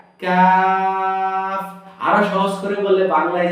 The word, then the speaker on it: ق: থাকলে কি কফ হয়, কফ। তো কফটা আমরা একটু টেনে বলবো, কফ বলবো না কাফ। কাফ বললে মধ্যখান পেছানো ছোট কাফটা হয়ে যাবে।